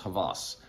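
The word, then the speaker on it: Hawas: else and it's rasasi Havas okay it's spelled h-a-w-a-s but it's pronounced Havas um at least from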